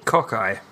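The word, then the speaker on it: cocci: Cocky? Cockeye. Cockeye. Oh, it's funnier your way, yeah. I'll write down how to pronounce that.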